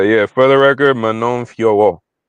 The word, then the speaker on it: Fiorot: is it is Manon Fiorot. If you're gonna, it's Manon Fiorot. They driving me crazy on UFC, man. So many people calling her Fior still. It's two syllables. It's Fiorot. It's also Manon, not Manon.